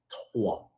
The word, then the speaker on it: trois: But here in French, we say three, we say trois.